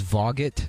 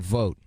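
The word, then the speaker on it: Vogt: pronouncing uh voigt as voguet yeah okay is that voight i think yes v-o-i-g-h v-o-i-g-t is it v-o-g-t it's v-o-g-t then that's what vote vote vote involved vote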